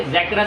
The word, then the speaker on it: Zakra: भारतीय होने के नाते आप इसे ज़कारा पढ़ेंगे, बट in exact pronunciation it's ज़ैकरा, लेकिन आप इंडियन है तो आप ज़ैकरा ही बोलेंगे।